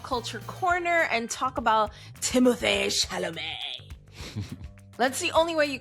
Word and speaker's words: Timothée Chalamet: a little pop culture corner and talk about Timothée Chalamet. That's the only way you can say it. No, that's the correct pronunciation. Timothée Chalamet.